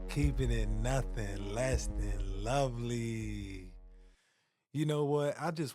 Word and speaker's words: LoViLi: it meant to be lovely today. Lovely stands for Low Vision Living. It's an acronym using the first two letters of each of those words, and it's spelled LoViLi.